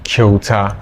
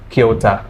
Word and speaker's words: Kyauta: So how do you pronounce that one? Okay, my name is Kyauta. Kyauta.